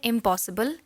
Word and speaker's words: impossible: In the word impossible, im is the prefix. So it will never be stressed.